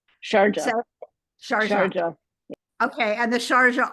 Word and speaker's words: Sharjah: Pronouncing that correctly, the Sharjah Architectural It's Sharjah. Sharjah.